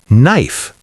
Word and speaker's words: knife: For example, the word knife is spelled with a K, but the K is silent, so we pronounce it knife.